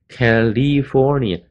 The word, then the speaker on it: California: ，你可以打一个记号。打一个撇在上面，F O R 的上面，那就是 O 的声音，California，California，California, 也不一定把它念 California，也不是 li，Cal 又是 le，California。